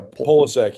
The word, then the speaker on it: Polasek: Maybe it finally did because I mean, is it Polsek? Is that how you say it? Yeah, Polasek, yeah. Polsek, Coach Pol.